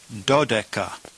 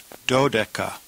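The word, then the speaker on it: δώδεκα: two together, and you get the number 12, pronounced dodeca, dodeca.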